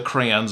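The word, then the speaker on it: Krea: Now, it's not spelled exactly the same as the crayons of your of your youth, but it is called crayon or it's pronounced crayon.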